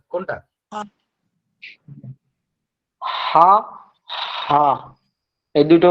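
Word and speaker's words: ه: আর যেটা হায়ের উচ্চারণে গলার কোনো কাজ নেই, আপনি শুধু মুখটা খুলে দিবেন আর ভিতর থেকে বাতাস বের হবে, আওয়াজ বের হবে, হা হা।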